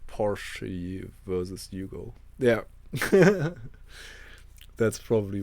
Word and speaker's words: Porsche: it was like yeah that was like a Porsche or Porsche actually is what it's pronounced like. I'm German, so I can pronounce Porsche like it's meant to be pronounced in German, I guess.